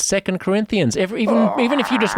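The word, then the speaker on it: 2 Corinthians: Bible two Corinthians it's not as it's not pronounced two Corinthians it's second Corinthians even even if you just went to went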